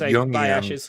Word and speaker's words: Jungian: Well, first of all, it's pronounced Jungian.